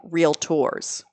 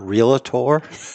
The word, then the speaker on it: Realtor: the extra mile no it's not real a tour it's real tour but obviously a lot of people say it the other way to the term agency